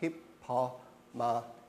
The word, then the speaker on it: Hippomenes: So when you pronounce his last name, right, you just pronounce every letter. Hippomenes, right?